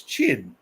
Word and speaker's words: Qin: But the pronunciation of that in Chinese is Qin.